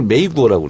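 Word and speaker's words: 美国: 미국을 메이구어라고 그래요. 메이구어? 미국. 그래서 미가 아름다울 미자가 메이로 발음나고 국이 구어. 메이구어.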